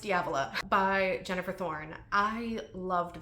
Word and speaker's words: Diavola: I did listen to the audiobook, and it's pronounced Diavola by Jennifer Thorne.